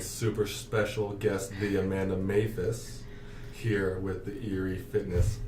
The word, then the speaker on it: Maphis: I finally just told him one day, listen, it's Maphis. Like, you're saying it wrong.